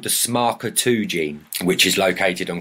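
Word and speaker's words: SMARCA2: a note do you want me to actually pronounce it oh my God yes I do please so it is called the smarker 2 Gene which is located on chromosome 9.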